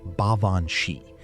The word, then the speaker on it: Baobhan Sith: have warned for centuries about the Baobhan Sith, pronounced Baobhan Shee, meaning fairy woman or wicked fairy.